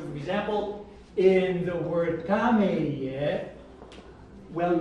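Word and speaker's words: kameie: So for example, in the word kameye, well, not the kameye. Listen, where's the stress? Kameye. Kameye. First, second, third, or fourth? First. First. Kameye.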